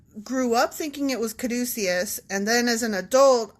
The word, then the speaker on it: caduceus: So you were studying up about the Caduceus. Yeah, and actually, two mea culpas there. Okay, first of all, the pronunciation. Like, I grew up thinking it was Caduceus, and then as an adult, I was corrected